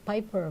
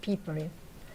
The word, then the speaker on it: Pieper: Everybody says Piper, but German pronounce it Pieper.